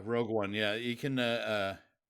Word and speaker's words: Rogue One: I uh I did not see Rouge one uh or however it's pronounced um but I understand it's a it's a prequel to Rouge one is that right yeah Rogue one yeah you can uh